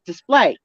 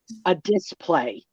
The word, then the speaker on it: display: You got to put the emphasis on the second syllable of display. It's display, not a display.